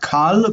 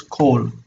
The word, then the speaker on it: kol: But it's something that's kind of important for understanding why this is O and not A. It's not Kal, but it's Kol, because this is the same word.